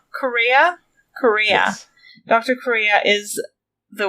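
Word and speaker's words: Kureha: Correa.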